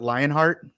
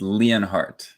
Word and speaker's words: Leonhard: Is it Lionheart? It's Leonhardt. Oh man, so close to Very Lion. close. Very close. You know, people normally get the heart part wrong.